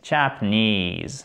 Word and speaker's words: Japanese: Japanese, OK? Japanese. Faites bien attention, l'accentuation est ici.